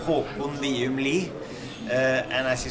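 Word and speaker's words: Håkon Wium Lie: I'm having a little trouble pronouncing his name, so I'm just going to let him pronounce it. Well, yeah, it's a very Norwegian name, Håkon Liumli.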